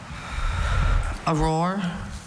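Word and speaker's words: aurore: Auror. Auror. That's the only pronunciation, right?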